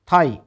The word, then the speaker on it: thigh: बचे क्या, H और I तो बचे, इसका उच्चारण क्या होगा फिर, हाई। SIGH साई, THIGH थाई, THOUGH दो, और थ्रो THROUGH थ्रू, ठीक है।